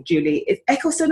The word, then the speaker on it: Juliet Eccleston: So I've got with me the wonderful Juliet Eccleston, have I pronounced it right? That's right, yes, Juliet Eccleston.